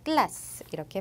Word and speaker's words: glace: 먼저 단어 맨 끝에 으가 올 때, 예를 들어 glass라는 단어처럼 요 맨 끝에 올 때는 발음이 나지 않는다라고 보시면 돼요. 그래서 우리가 앞에 나온 자음까지만 발음을 합니다. 그래서 glass 이렇게 발음하고, 그 다음 단어 중간에